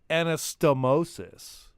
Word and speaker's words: anastomosis: First of all, anastomosis. That would be the correct pronunciation of that.